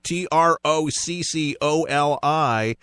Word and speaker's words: Tricoli: It's spelled like broccoli with a T. I've gotten that my whole life. You know where I was going. All right, Tricoli, Troccoli, and there is some Italian in that blood of yours.